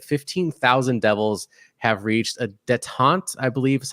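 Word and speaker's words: détente: 15,000, that's it, 15,000 devils have reached a detente, I believe is how you pronounce that.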